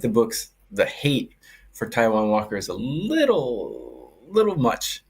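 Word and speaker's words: Taijuan Walker: oh yep yep that hot do scene okay tjon Walker strikeouts over three and a half let's go pres I love how you pronounce everything French but it's actually Taiwan but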